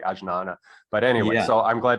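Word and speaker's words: ajñāna: researched perennial skepticism and i found agnana and it's spelled with a j so it's almost like ajnana but anyway so i'm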